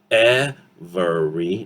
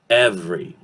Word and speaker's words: every: Instead of every, okay, syllable by syllable, every. No, it's every. 2 syllables, every.